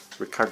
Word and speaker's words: Richard: i like star house ricardo strauss the same guy who wrote the 2001 it's spelled richard but we german say ricard strauss i'm not german uh